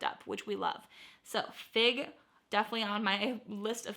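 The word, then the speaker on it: Figue: help you out number 28 is the brand fig and it's spelled f-i-g-u-e golly gee I want to find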